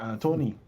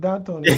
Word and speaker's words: D'Antoni: Antony, because we can't call it D'Antoni. There's no D in his name. The D is silent.